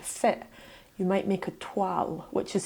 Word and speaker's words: toile: making something to fit you might make a twal which is spelled t-o-i-l-e is like a practice garment that